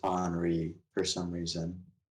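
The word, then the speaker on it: Henri: damn that's that's gonna suss not gonna lie enrique it's spelled henry but it's pronounced honoree for some reason like jesus yeah yeah kind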